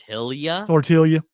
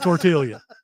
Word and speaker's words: tortilla: gonna make the L so you make the L silent where are you from